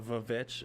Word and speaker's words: VVitch: It is the VVitch, as in, because we use W's all the time now, but when they spelled it, it was 2 V's instead, and they would pronounce it as a W.